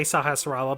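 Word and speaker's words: Sahasrahla: dirty sakurais is homecoming nobody seems to want to pronounce his name right i know i can usually say sahasrara but i usually deliberately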